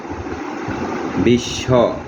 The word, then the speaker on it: বিশ্ব: তারপরে বিশ্ব, পরশিকা তালিব্যাস বফলা বিশ্ব, অর্থাৎ শেষ বর্ণটি তে তালিব্যাস দুইবার উচ্চারণ করে ব অনুচ্চারিত হবে।